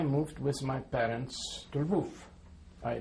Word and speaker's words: Lwów: I moved with my parents to Lwów. I pronounce the name of the city in Polish. It would be probably useful if I will indicate that the city in Polish is Lwów.